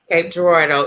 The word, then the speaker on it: Cape Girardeau: Is correct the way we pronounce it. What'd you say? Cape Girardeau is correct the way we pronounce it.